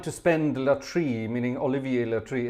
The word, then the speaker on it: Latry: I love the way you're all trying to spend Latry, meaning Olivier Latry. It's Latry. There's no IE in there. Well, there is in Olivier, obviously, but not in Latry. Latry.